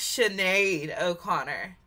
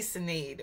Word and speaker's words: Sinéad O'Connor: butcher it um so Siri said it's chenade O Conor I was going to say Sade or Sade or something like chenade Conor chenade oor